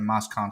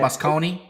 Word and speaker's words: Moscone: Oh, that's how you say it, Moscone? Moscone.